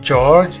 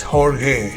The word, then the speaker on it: Jorge: So it is spelled J O R G E but it's not George, it's Horge.